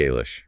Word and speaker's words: Alish: He admits he speaks the Alish, right? Is implies English, but with a silent G.